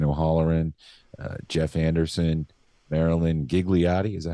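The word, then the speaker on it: Ghigliotti: list starring Brian o'holleran uh Jeff Anderson Maryland gigliotti is that how you say it yeah gigliotti Lisa spoonauer Jason Muse Kevin Smith Scott Mosher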